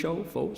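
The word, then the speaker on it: phở: F fo Faux restaurants pH fo pronounced fo in Vietnamese Vietnamese restaurant ANS worldwide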